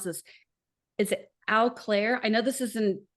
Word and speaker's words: Eau Claire: So this comes from April, and I don't know how to pronounce this. Is it Eau Claire? I know this is in Wisconsin. Eau Claire.